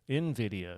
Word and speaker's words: Nvidia: Nvidia seems to be the popular one. Oh, did I pronounce it wrong? I'm not going to say that. Okay, that's fine if I I don't know. Nvidia. Yeah. Yeah. It doesn't start with an I.